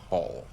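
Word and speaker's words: Q'ul: your name I'm call call Q you apostrophe UL pronounced call like the calling of the herd he snorts and hot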